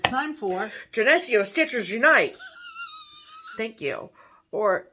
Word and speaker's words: Geneseo: live in around nearby within driving distance of Geneseo, is that how you say it? Yeah. Geneseo?